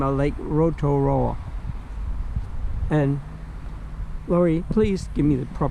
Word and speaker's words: Rotorua: back to its original Maori name of Lake Rotorua. And Lori, please give me the proper correct pronunciation of that.